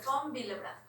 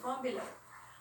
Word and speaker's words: von Willebrand: es factor de von, y la W se pronuncia como B pequeña. ¿Sí? Entonces es el factor de von Willebrand. Factor de von Willebrand.